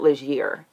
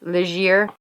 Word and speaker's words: Legere: I'm wondering, I did know somebody with that last name in school, and he pronounced it Legere. Oh, probably. I mean, he's Canadian, so French makes sense. Legere.